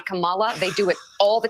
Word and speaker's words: Kamala: is a right-wing thing calling her Camala I never actually knew that her name the pronunciation of it was Kamala I never I never